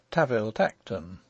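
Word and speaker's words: Tanville-Tankerton: an authorial footnote that the duke's family name spelt tanville tankerton is to be pronounced taviltekten and one may assume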